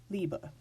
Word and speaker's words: Liebe: rules you already know B is pronounced as a B it's not final in the word there's this ending which is a schwa after it we get liebe now when we start